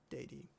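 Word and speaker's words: dedi: simple past which is day D um in Latin that's actually a short e so let me just go back there real quick day D and then what did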